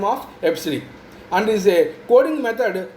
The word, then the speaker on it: EBCDIC: Now coming to the next non-numeric, that is alphanumeric code is EBCDIC, where this EBCDIC is pronounced as EBCDIC.